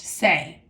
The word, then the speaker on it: se: So we know that reflexive verbs are easy to identify because they end in letters S-E, pronounced say, okay?